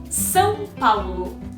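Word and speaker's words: São Paulo: of all what about learning how to say the name of the city son paul i know it can be a little bit hard especially if you're a native english speaker but that's it so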